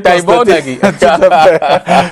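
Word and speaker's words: Tibor Nagy: C'est comme ça qu'on prononce. Oui, c'est Nagy. On dit Taïbo Nagy.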